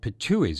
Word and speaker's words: Pitohui: They are jay-like birds called Pitohuis. It's spelled Pitohui, the plural, adding an S, sounding all the world like a cartoon depiction of someone spitting out something, so the word seems appropriate.